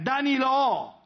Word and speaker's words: Danilo: Danilo! Con l'accento sulla O.